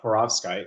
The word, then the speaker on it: perovskite: actually developed the first uh Porovskite, that's the right way to say it.